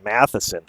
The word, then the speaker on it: Matheson: Thanks, Mark, for the pronunciation. Matheson is the correct pronunciation.